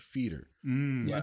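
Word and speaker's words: foeder: aged with blueberries but I guess that word is pronounced feeder I looked at I'm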